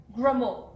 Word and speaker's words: Gremaud: and I'm going to say your last name wrong, so say it for me. Gremaud.